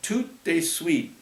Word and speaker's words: tout de suite: Come over tout suite. Tout de suite meant right away in French. You say it like tout de suite.